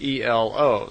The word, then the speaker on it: Elo: And semi in their language is E-L-O, so Elo.